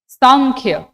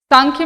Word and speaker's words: सांख्य: because Navi right Sanskrit Sanskrit में जब हम प्रोनाउंस करते हैं तो संख नहीं सांख्य करते हैं तो न बिकम म सो ट can also be written संख्य Kapil योग ऋषि कपिल